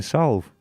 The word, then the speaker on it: salve: And you never pronounce the L in salve.